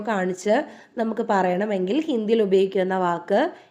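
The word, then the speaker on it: वह: പറയുന്നത് വോ വഹ എന്നാണ് വാക്കെങ്കിലും ഉച്ചാരണം വരുന്നത് വോ എന്നാണ് അവൻ അവൾ അത് വോ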